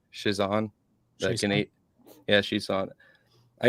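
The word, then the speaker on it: Chiasson: How do you say her last name? Shizan.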